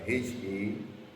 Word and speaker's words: Happirian: Happirian is Happirian. It sounds like the word happy, only that it has a connotation of a belonging, just like you have with countries.